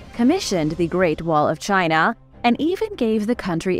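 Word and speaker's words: Qin: the Great Wall of China and even gave the country its name China as a word comes from chin spelled q-i-n but pronounced like chin because of his incredible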